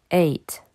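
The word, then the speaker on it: eight: Donc, il ne faut pas chercher à prononcer le GH. 8.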